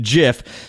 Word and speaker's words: GIF: Well, choosy moms are cunts that should have taken computer science and realized that GIF stands for graphical, which starts with a hard G.